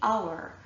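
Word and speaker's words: hour: begin with an H, but the H is silent. And so what we're actually hearing at the start of these words is a vowel sound. So we say honor, we say our, we say air, we say honest.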